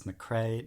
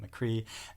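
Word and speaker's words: McCrea: with irish names but i was corrected it is mcrae not mccree and this is the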